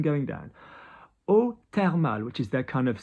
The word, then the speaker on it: eau thermale: So, eau thermale. So, TH in French is a T. It's hard. We don't have a TH in French pronounced as a th.